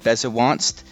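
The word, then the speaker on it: Bezewanst: Yeah, so in the light novels, it's spelled Bezavanst, but when you listen to how they pronounce it in Japanese, it's actually Bezavanst with a V sound.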